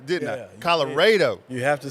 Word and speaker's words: Colorado: Texas so I so I messed up the pronunciation didn't I Colorado you have to say it and that's how the locals know if you're from that area cuz if you call it Colorado like it's spiled then they say okay this